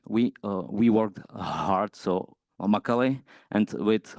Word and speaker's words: Macaly: So the most important thing is how to pronounce it. It's we like it's in Czech. Like we worked hard. So Macaulay, and with Y at the end. So it's like women. So women worked hard. So Macaulay.